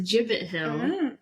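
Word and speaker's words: Gibbet Hill: look up the jibbit I looked up the pronouncing pronunciation and it's a jibit hill okay so I ended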